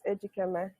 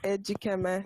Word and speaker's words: Ejikeme: i want to show you respect can you pronounce for me your last name yeah it's edgy camera can you say it again please it's edgy camera so edgy camera so i actually did a